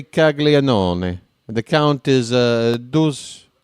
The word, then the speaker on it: Caglianone: How are you skipping that third syllable that's clearly in there? Folks, I took Italian, okay? When I went to university, I took Italian for 2 semesters. And I can tell you right now, if I'm phonetically reading the name, it's a Caglianone. That's how you would say it. So if I got it wrong, scusi. But I say Caglianone.